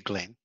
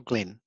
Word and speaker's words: Glynn: We probably don't need to read them all, but thank you, Glenn. I appreciate that. Is the pronunciation Glenn or Glynn? Glynn.